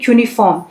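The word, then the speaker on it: cuneiform: शुरू है ठीक है क्यू ये सी यू है लेकिन इसको हम प्रोनाउंस करेंगे क्यूनिफॉर्म अब क्यूनिफॉर्म का मतलब क्या होता है ये एक अ एंशिएंट प्रोसेसर है राइटिंग का।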